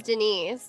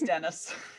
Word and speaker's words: Dennis: everybody's been pronouncing it i thought it was denise so no it's dennis now so let's start